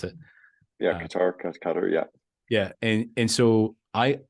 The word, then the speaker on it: Qatar: The monarch of Qatar, you told me that's how you pronounce it. Yeah, Qatar, yeah.